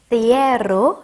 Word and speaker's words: cierro: 자, 얘는 R이 두 개가 들어가 있네요. 그래서 우리 다 굴려서 해주셔야 되겠는데요. 한번 해주시면 C도 한번 TH 발음 살려서 해볼까요? 그럼 어떻게 되죠? Cierro 이렇게 되는 거죠.